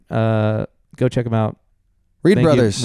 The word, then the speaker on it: Reid Bros: Please pronounce it brothers if you can. If you just can't read Bros is fine.